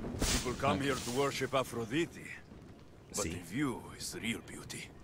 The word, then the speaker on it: Aphrodite: is real beauty aphrodite i mean those are probably the ways it's supposed to be pronounced because this game is pretty you know has a lot of historical accuracy but when you grow up learning the names like leonidas and aphrodite and then it's pronounced different it's so weird all right let's see